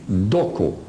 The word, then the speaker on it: Doko: They are named on their language, Doko. Dokos with an S if you want to. Dokos, phonetically what they call them, Doko.